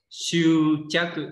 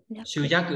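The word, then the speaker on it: 執着: Siêu chắc cự có hai cái đọc là siêu chắc và siêu gì nữa biết không? Giác cự nhá. Siêu giác cự và siêu chắc cự.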